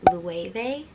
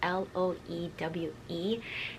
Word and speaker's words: Loewe: Okay, so another kind of not super popular brand, but I believe the way you pronounce it is Loewe, I believe. So it's Loewe, and their most famous bag is basically the puzzle bag.